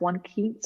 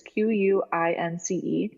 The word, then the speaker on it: Quince: recommend to people is, I don't know if it's pronounced One Keats or One Kince. It's Quince.